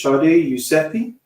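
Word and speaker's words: Shadi Yousefi: um, this is, how to pronounce her name, is Sade Yousefi.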